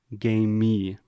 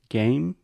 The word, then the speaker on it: game: with the word game many of our students have the tendency to say game me and add this extra sound so if you can get the pronunciation of the first word game correct then you just have